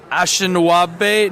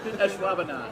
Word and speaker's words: Ashwaubenon: Ashinawabe? Nope. Ashwaubenon.